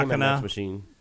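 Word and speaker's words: Daemon X Machina: Damon X Machine. I think you're supposed to pronounce it that way, Damon, when it's spelled like that.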